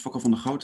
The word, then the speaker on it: Fokko van der Goot: My name is Fokko van der Goot.